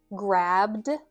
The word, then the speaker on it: grabbed: But between these three verbs, we either pronounce the ed ending as a d or a t. Grabbed. Grabbed. That's the d ending.